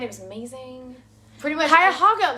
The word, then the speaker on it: Cuyahoga: Cuyahoga, like a pig.